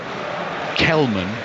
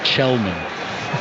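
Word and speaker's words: Källman: There's going to be another little pronunciation lesson coming as well, because number 19, Benjamin Kelman, is actually pronounced Chelman.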